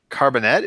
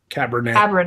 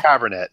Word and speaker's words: Cabernet: Dark Carbonet. Am I pronouncing that right? Cabernet. Cabernet. Oh, Cabernet. Cabernet. Yeah. We were both wrong.